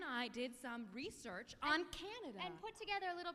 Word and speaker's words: Canada: in the southwest east canada canada is spelled c a n a d a with the emphasis on the first syllable canada um and backwards